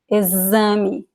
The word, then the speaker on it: exame: Or it can sound like S, excelente, excelente, or like a Z, exame, exame.